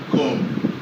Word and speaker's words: comb: Making it to have the sound word comb, comb. In pronouncing comb in normal oral English, we find out that the B is silent. We find out that the B is what? Silent.